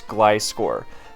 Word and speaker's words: Gliscor: pronunciation of Gliscor and I always knew that it's wrong to say gisore I know it's a gliding scorpion it's gcore but I just like the